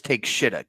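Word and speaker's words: Takeshita: start us off well you mispronounce the final guy's name just so we all know it's take shitta get it right take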